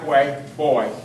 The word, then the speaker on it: Boye: your name again boy m is mar like you pronounce Mark ask Mark and way like get out of my way boy boy b y e spell ask night thank